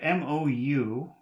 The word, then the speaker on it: mou: Then we have M-O-U, which I guess should be pronounced mu, mu.